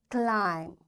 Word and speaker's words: climb: That's why this B is coming after M, this B will be silent. We will say comb, tomb, bomb, thumb, climb, and lamb. In all these words, you can see B is silent. Why? Because before B, there is M. So this M is making this B silent, and we don't pronounce it.